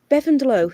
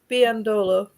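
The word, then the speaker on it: Biyendolo: So I was watching the game and I was like, "Who is Lynn Bevandelow?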